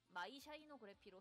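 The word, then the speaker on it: 光空記録: 가사가 써 있는 거는 광공기록 이렇게 한자로 써 있지만 발음은 마이 샤이노그래피로 해요.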